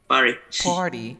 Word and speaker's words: party: rt vowel sound right you don't pronounce the t you say party look at this one